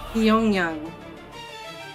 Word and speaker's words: Pyongyang: Pyongyang.